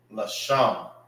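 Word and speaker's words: לשם: Leader is Lashawan So that's how you say leaguer in Hebrew.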